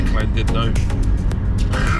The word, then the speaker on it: Llandudno: We're just on our way to Ross-on-Sea, which is near Llandudno.